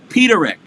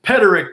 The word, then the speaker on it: Peterik: jamming java mr jim peterick he even said it right robbie i can't believe it everyone says pedrick paterick peter nick peter lick this one this jockey